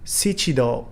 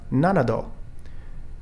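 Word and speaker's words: 七度: we have yong kai instead of sichido for seven times we have nanado instead of shiji for four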